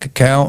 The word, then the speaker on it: cacao: to come from flavanol-based compounds found in the cacao. Uh And it is that is how it's pronounced c a c o a o. I wanted to check cacao and that's how it's pronounced.